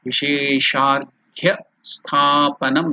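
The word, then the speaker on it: विशेषार्घ्यस्थापनम्: Vishesha Arghya, together while it is joined it becomes Vishesharghya Sthapanam. Stha, the A is elongated, Dirgha Sthapanam. So that is how we have to pronounce Vishesharghya Sthapanam.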